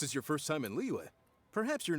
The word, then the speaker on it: Liyue: En anglais, c'est Liyue. Liyue. En français, c'est Liyue. Non, moi, je prononce juste les lettres qui sont là. Il est marqué L-I-Y-U-E. Comme Liyue. Liyue.